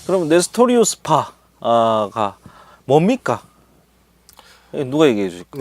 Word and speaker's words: 네스토리우스: 발음을 정확히 하면 네스토리우스. 네스토리우스.